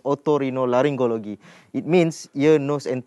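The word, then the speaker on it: otorhinolaryngology: show this morning uh the proper way to i know it's very difficult but uh to pronounce it is ottorino laryngology it means ear nose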